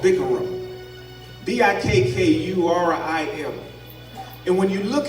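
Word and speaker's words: bikkurim: And one of the words that stuck out to me was a word that is pronounced in Hebrew called bikurim.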